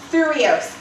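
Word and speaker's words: thyreos: The Greek name of this shield, and I absolutely love this, here's the Greek name of it, is Thureos. It's T-H-Y-R-E-O-S. T-H-Y-R-E-O-S. It's pronounced Thureos.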